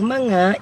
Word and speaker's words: mga: you want to florida spelling looks strange MGA but it's pronounced as among these paintbrushes as manga in me these rags